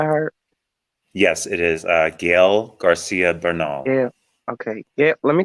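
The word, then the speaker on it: Gael García Bernal: who played werewolf by night I I can't pronounce his name Eddie do you know it by heart yes it is uh Gail Garcia Bernal yeah okay yeah let me tell you something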